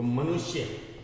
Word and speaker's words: मनुष्य: तो मनुष्य, श को कम देर हम बोलने बोला, मनुष्य।